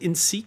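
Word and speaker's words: INSEEC: You pronounce it INSEC?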